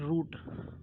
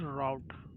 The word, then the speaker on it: route: We call it root, okay, in Indian, but this is not correct. This is route.